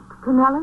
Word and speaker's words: Canelli: to you about Captain canelli oh how do you pronounce it canelli or kenell canelli is the Mrs Conwood who served